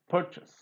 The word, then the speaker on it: purchase: It's purchase. It's not purchase. No. There is no z in purchase. It's purchase and plural purchases. Purchases, purchaser, purchasing. So nowhere z is coming.